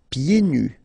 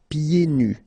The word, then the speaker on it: pieds nus: Pieds nus. So final S here, and then final S here is not pronounced. And then when you get this combination here, it's yé, pied. Okay, so you don't hear the D.